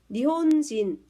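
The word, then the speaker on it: 日本人: 니혼진, 니홍이라는 일본이라는 나라 이름에다가 진, 사람 인자를 진이라고 읽은 겁니다.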